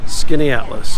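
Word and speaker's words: Skaneateles: beautiful light though skinny atlas skinats canada leaves skanatolys skinny atlas they pronounce it skinny atlas i think i as a kid like skinny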